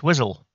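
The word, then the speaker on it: Wiswell: you who are wondering how you pronounce that place it's wizzle where we met the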